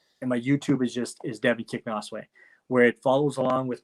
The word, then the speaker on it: Kicknosway: But it's Devon Kicknosway.